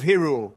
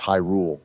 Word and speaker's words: Hyrule: what could be down here Zelda princess of hule it's actually pronounced Hyrule bro I couldn't care less let's go we